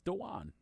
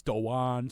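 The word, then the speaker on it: Dawuane: actually pronounced Dean so everybody thinks it's Dwayne because it looks like Dwayne it's danan fair enough Don't lecture me Andy I'm lecturing everyone it's danan smooth folks danan smooth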